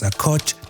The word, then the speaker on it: Akojd: My name is Akojd, the D is silent.